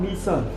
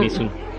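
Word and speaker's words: Mỹ Sơn: No, Misun. not my son.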